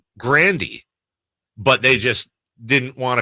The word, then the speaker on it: Grande: with is actually tigan Ariana Grande same thing said it's Ariana Grandy but they just didn't